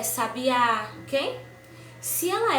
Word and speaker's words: sabiá: Se a minha palavra eu considerei ela oxítona, a minha sílaba tônica é oxítona, então o acento tônico vai ser na última sílaba da palavra, na última sílaba. Como café, sabiá, ok?